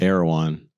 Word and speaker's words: Erewhon: Is that what it's called, right? Ear One? Erewhon. I'm not from LA. Yeah. They swear by that place. Earwon. That's how it sounds like to me when